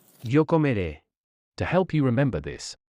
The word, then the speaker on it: comeré: An acute E, which is pronounced A. Comeré. Yo comeré.